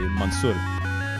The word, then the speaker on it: Mansour: But the Americanized pronunciation of it, I guess, would be like Mansour. So Mansour. But it's Arabic, Lebanese derived. You know, my family. Okay, so then what's the actual pronunciation? Would be Mansour.